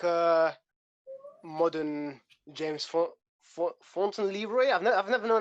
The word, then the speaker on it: Fauntleroy: Kind of like a modern James Fontaine Leroy. I've never known how to say his name. James Fauntleroy.